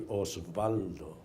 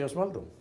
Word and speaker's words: Osvaldo: And my name, you spell it O-S-V-A-L-D-O. Say Osvaldo, no Osvaldo.